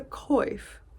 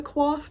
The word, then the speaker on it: coif: what this is called, and Merriam-Webster says it's a coif. I thought for sure it was a coif, but they say that is only referring to the hairstyle.